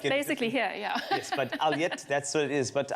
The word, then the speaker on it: Ulyate: In the past, it's spelled U-L-Y-A-T-E, which is Alyat, but some people say Ulyate, Alyate, all sorts of things.